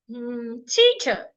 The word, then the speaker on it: teacher: Another example is the word teacher. Teacher has 2 syllables. It's a noun. So I'm going to stress the first part.